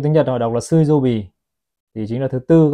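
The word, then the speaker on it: 水曜日: Trong tiếng Nhật họ đọc là Suizobi, thì chính là thứ tư các bác nhá.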